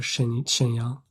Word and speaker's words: 沈阳: What's the 声调 for Shenyang?